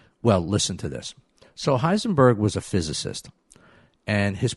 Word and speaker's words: Heisenberg: And let me spell it for you. Heisenberg. That's the name of the physicist who's responsible for its creation. Heisenberg, Heisenberg.